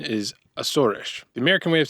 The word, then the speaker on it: Azores: As far as pronunciation goes, the correct native pronunciation is "Ah-ssor-esh." The American way of saying it is "Ay-zores" (southern accent) or "Ay-zores."